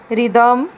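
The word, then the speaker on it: rhythm: ਮੈਂ ਪ੍ਰੋਨਾਊਂਸ ਨਹੀਂ ਕੀਤੀ, ਇਹਨੂੰ ਰ ਨਹੀਂ ਪੜ੍ਹਿਆ, ਇਹਨੂੰ ਰਾਈਮ, ਰਿਦਮ, ਰਿਨੋਰਸਿਸ, and this one rheumatic।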